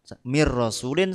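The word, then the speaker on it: من رسول: berdengung dinamakan idgham bilagunah Mir Min asalnya Min rasulin Mir rasulin sama dengan Mir rasulin gofurur rahimun faakallahu Muhammadur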